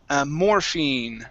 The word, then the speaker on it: morphine: Okay, let's go to morphine right here instead of morphine. Okay, long e sound.